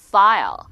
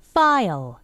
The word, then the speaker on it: file: 역시 마찬가지로 비슷한 발음일 것 같지만, 자, P는 입술 두 개가 붙는다 그래요. 그래서 이거를 한국말로는 양순음, 입술 두 개를 붙이는 프. 근데 F는 니가 아랫입술을 살짝 물면서 바람이 슝 나가면서 아주 섹시하게 이렇게 발음하는 거죠. 자, 그래서 발음을 해보면 입술 두 개가 붙습니다.